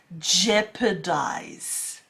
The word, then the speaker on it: jeopardize: Next, moving on to word number 2, and it is jeopardize. Jeopardize. Can you say that? That's it. Jeopardize. Look, the spelling and the pronunciation is a little bit different, if you can see